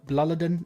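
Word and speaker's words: Blåliden: So it's B L A L I D N B Bladin is the correct way to pronounce it. A Swedish guy voice messaged me on on Instagram and yeah, Bloodadin.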